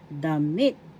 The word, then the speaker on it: damit: Damit, damit, first syllable da, second syllable mit. The accent is in the second syllable, damit, damit.